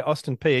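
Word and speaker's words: Austin Peay: job if I've got this right was at Austin P is that how you pronounce it P pronounce it just like it sounds P yeah yeah Austin P and you were a physical education instructor but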